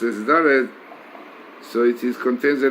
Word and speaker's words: Daled: benefactor or a giver, and the letter Daled pronounces as Daled, so it contains the letter Dal, which is needy person.